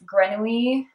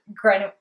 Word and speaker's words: grenouille: basic broken rib sock, and the yarn is Grenouille. One of my viewers commented on, I think, my past, or like one of my previous episodes, saying that I was pronouncing Grenouille wrong, and you're absolutely right that I am,